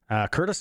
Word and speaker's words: Courtice: Curtis, Ontario, never heard of it, but it's spelled Courtice.